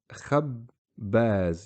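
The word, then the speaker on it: خباز: And again, the shadda just combines the two, gets rid of the need to have a double ba.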